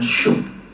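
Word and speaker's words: שׁוֹק: Sup itu SHUQ kalau dilatinkan. Ya, kalau dilatinkan, kalau di Ibrani kan tidak demikian, bacanya syuk, ya.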